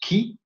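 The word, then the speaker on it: Χ: Alors il est formé par deux lettres grecques, le X qui se prononce qui, et là c'est amusant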